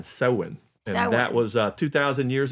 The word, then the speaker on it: Samhain: But they pronounced it S-O-W-N, Samhain.